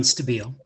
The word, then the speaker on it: Stabile: next we have stabile Janet Brewer and Matt Benjamin you're up and I'm sorry if I butchered your last name that's pretty close actually it's stabile um thank you and